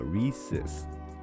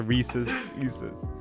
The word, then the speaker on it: Reese's: If you look up on Google and look up Reese's pronunciation, it's Reese's. Here, I'll even spell it out. Is it actually? I'll spell out the pronunciation for you. Reesuhz. That's how you pronounce it.